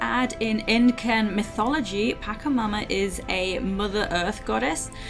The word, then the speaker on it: Pachamama: beginning a new walkthrough i believe it's pronounced pakamama not 100 certain though and i've separated level